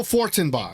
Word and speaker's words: Fortenbaugh: Joe FORTENBAUGH. That's how you say his name.